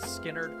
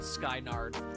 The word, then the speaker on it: Skynyrd: Nightstar should be incredibly happy that I pronounced Skynyrd correctly, because I was very close to calling it Skynard.